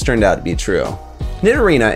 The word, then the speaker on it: Nidorina: out to be true nidorina and nidorino's names are nearly identical with the only difference being the feminine a sound at the end of nine arena and the masculine o sound at the end of nidorino because they resemble rhinos